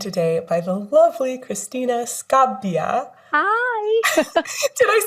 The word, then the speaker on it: Scabbia: I'm working on it I know there's that double b there in Italian and that can be a little daunting sometimes and then you think